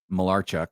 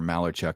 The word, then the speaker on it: Malarchuk: by the name of Clint malarchuk or malachuk depending on how you want to pronounce it and this is the